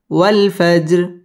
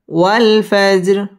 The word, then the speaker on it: والفجر: را زري والفجر والفجر والفجر। ওয়াও ঠোঁট গোল করে উচ্চারণ করতে হবে।